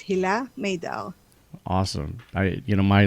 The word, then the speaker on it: Hila Maydar: our podcast today and did i did i pronounce your last name correctly yes it's hilah maydao awesome i you know my last name is